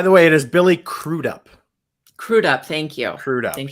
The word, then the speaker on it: Crudup: to make sure because I assumed it was going to be Crudup, and I was like, it's probably not Crudup because that sounds a little weird. I'm sure there's a different pronunciation. So then I looked it up, and I saw an interview where he said it. So it's Crudup.